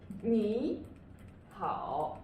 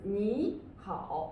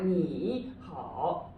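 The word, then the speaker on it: 你好: See here, third and a third. But when we really pronounce it, we would say what? We would say 你好. Yes, it's 你好, but it's not 你好.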